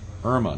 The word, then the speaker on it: Irma: the irma l rosen irma not emma right i said that name wrong and i apologize no